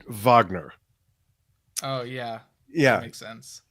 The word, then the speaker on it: Wagner: favorite Yes album and I probably should have pronounced it Vagner oh yeah yeah makes